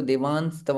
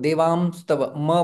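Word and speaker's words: देवांस्तव: तो देवान स्तव पश्यामि देवान स्तव देव देह देवान शब्द छिपा हुआ है तो देवास्तव आना चाहिए। कुछ लोग देवा स्तव म बोलते हैं।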